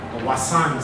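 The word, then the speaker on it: Vasan: A work by a Thai artist, very famous Thai artist, Wasan Syndicate. Okay, the V is pronounced as Wasan, right?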